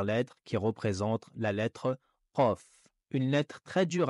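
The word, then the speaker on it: ق: Concernant sa prononciation, la lettre Qaf se prononce en montant le fond de la langue et en la collant contre le fond du palais.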